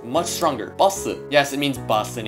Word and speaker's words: 버스: so you would think this word would be pronounced all soon but you're wrong it's pronounced much stronger awesome yes it means bus in English here's another